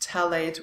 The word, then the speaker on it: phthalate: The DBP or dibutyl phthalate, it's pronounced phthalate without the PH. It's a silent one, and it is used